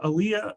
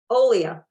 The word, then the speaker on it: Olia: Massachusetts off the beaten path uh author Aaliyah um no I got that wrong uh uh uh we even practiced this how am I pronouncing it Olia Olia I want to say Alia that doesn't sound right so Olia Olia